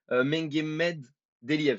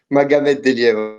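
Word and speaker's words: Magomed Deliev: Alors, est-ce que je prononce bien? C'est Mengemed Deliev, c'est ça? Magomed Delia, Ah, ok, ça.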